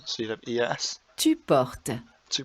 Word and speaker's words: portes: Tu portes. Tu portes. Again, remember the S is silent, so it's very, very similar.